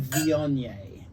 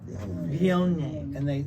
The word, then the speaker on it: Viognier: So this is a French aromatic, a Southern Rhone variety called Viognier, Viognier. and it's spelled Viognier.